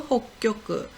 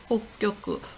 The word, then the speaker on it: 北極: 그리고 북극은 홋교쿠, 홋교쿠. 구가 다 초금이 돼서 홋교쿠 이렇게 발음이 됩니다.